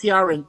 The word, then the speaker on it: Ciaran: It's pronounced Ciaran. There was a actor named Ciaran Hines who recently passed away.